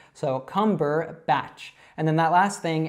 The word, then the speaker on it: Cumberbatch: So altogether, Cumberbatch, Cumberbatch. Now, he's British, so the more correct way to say this would be like Andrea would say it. So I would say Benedict Cumberbatch, and she would say, I call him Benedict Cumberbatch.